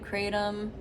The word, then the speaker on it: kratom: I'm by the way you can pronounce it create them crowd um kratom probably not kirtan but yeah it's like you know tomato tomahto so first things first